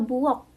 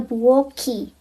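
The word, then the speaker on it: 부엌: Huruf K kalau dia di akhir dia dibacanya K. K biasa bukan K. Contohnya itu ada buok. Buok. Kalau ketemu sama vokal jadinya buoki. Buoki. Buok artinya dapur.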